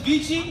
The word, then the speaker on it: Vici: up nice to meet y'all my name is vich I go by you can spell that VI i c i I'm your first